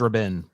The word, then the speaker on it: Rabin: it's apparently pronounced Rabin. Like he's an Rabin. Israeli premier.